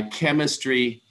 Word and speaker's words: chemistry: a logical reason here because there are only two syllables chem wait chemistry no there are three so it should be chem mystery but it's not so there's no logic